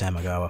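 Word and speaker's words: Samegawa: It is pronounced Samagawa.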